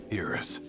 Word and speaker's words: Iris: Iris. It's like the Japanese pronunciation.